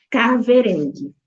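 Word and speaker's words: kahverengi: que eu trouxe do caverang né que é o a cor marrom ela se ela se escreve com k a h como eu falei no português a gente não tem o som do H né Por exemplo é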